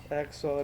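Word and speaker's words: XOR: इसको प्रोनाउंस कैसे करते हैं वो भी बताता हूं। एक्सर भी इसे बोलते हैं।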